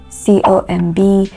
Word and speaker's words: comb: You have a word like COMB, WOMB. These words have the final B sounds silent, so they are not pronounced.